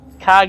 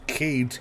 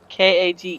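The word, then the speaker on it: kage: my name on here is KAG R it's KAG is Japanese for shadow oh really cuz it says cage ear yeah k a g e cage is pronounced KAG in Japanese yeah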